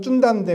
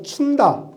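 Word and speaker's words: Cunda: 원래 발음은 쭌다인데 우리는 그냥 중국어 한자로 춘다.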